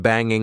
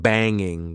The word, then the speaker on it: banging: Did you notice that when I'm trying to be extra informal, instead of saying banging with the eing sound at the end, I said banging. Banging.